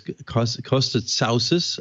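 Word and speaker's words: Costa Tsaousis: TV and our guest this morning is as Costco stood souces I've been instructed on the pronunciation of his name he's the CEO of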